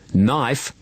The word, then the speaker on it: knife: Yes, knuckles, no, knife, and new all have a silent K.